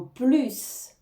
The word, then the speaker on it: plus: prononcer le s en plus de ça on entends bien le S hein contrairement à la négation ne plus on va pas prononc le S ici on va bien le prononcer en plus de ça